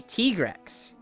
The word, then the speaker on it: Tigrex: Do you say Tigrex or do you say Tigrex? Because there's a right way to say it and there's a wrong way to say it.